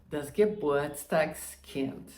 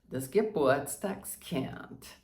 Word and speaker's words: das Geburtstagskind: Aqui nós temos 2 vezes o S de fonema para facilitar a pronúncia. Das Geburtstagskind. Das Geburtstagskind. Lembre-se do k e do D no final, que parece um T.